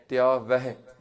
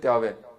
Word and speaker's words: tyavah: People say, they don't say tyavah properly. There's a ha there at the end. Tyavah. It's a ha with a sihari. Tyavah. Yeah? We should pronounce that ha. We shouldn't just finish off with tyaveh. It's not a vava with dulamv. People say tyaveh. But it's not a va, it's a vah. Yeah?